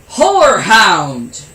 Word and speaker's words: horehound: Whorehound. And no, I'm not saying the H-O, the W-H-O-R-E. It's actually called H-O-R-E. But it's still pronounced the same way.